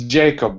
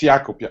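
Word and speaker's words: Jakub: yakub welcome is it yakub hello is is that how you prounce your name or is it Jacob um in English it's Jacob but in Polish it's ycob as you said I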